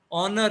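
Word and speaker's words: owner: ऑनर, इसको ऑनर पढ़ेंगे भाई, ऑनर, मालिक। और अगर HONOUR ऑनर कहेंगे तो उसका मतलब ये हो जाएगा इज्जत। ये वाला ऑनर कहेंगे तो इसका मतलब है मालिक।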